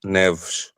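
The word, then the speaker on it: Neves: Um, so that's the that's the difficult part with uh Ruben Neesh. Can you can you give us a a Portuguese pronunciation, please? I was kind of hoping you would do that. Reuben Nevs.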